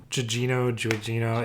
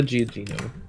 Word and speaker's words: Gugino: I know I'm going to pronounce this wrong. Yeah, that Gugino. Giugino. It's Gugino.